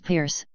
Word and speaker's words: Peirce: Charles Sanders Peirce, pronounced Peirce, the founder of pragmatism, America's only unique philosophy, was born in Cambridge, Massachusetts.